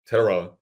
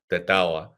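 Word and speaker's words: Tetairoa: And they said, look, T-Mac, Teteroa, or not, as it was said to me on the radio, Tetawa. But that nonetheless sticks in my mind is the worst / best mispronunciation I've heard.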